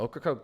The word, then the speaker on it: Ocracoke: Ocracoke Island visitors. But the residents on here are allowed to stay. So you actually only have Hatteras Island being ordered to evacuate residents. Ocracoke? Yeah, so Ocracoke, they're actually only evacuating non-residents and property owners,